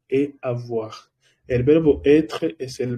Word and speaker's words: avoir: Recuerda el uso de OI dentro de bonsoir.